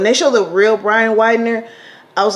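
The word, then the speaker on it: Widner: I showed the real Brian Wilder with how do you say it's Widener I believe when they show the real Brian Widener I was like you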